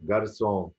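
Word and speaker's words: garçon: هي تحت الحرف دي، زي كلمه فرانسي، فرانسي، جارسون، جارسون. لكن لو جت في اخر الكلمه بنطقها كا، زي كلمه بارك، بستان او حديقه.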